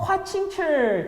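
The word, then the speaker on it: 華清池: 화칭칠, 중국 발음 화칭칠.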